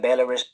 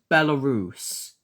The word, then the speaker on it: Belarus: Latvia, Belarus It's pronounced Belarus.